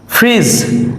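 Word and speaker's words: fridge: ফ্রিজ, আমরা refrigerator চিনি, ফ্রিজ, সেই ফ্রিজ বানানোও ডি আছে অথচ ডি এর উচ্চারণ হয়নি, ফ্রিজ, ফ্রিজ অর্থ ফ্রিজ।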